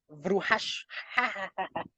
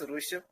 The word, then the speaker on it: Rushabh: Vruhash. Yeah, whatever. Please ask your question. Hi, Nakitosh. It's Rushabh, not Bruhash.